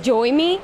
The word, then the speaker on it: Joyme: me together, and they make a name of like Joyme, but it's exactly like joy in English and me in English.